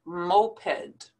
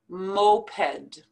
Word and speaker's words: moped: This word here is a noun, and we pronounce it moped, moped.